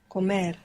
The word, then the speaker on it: comer: Comer. Accent on the end.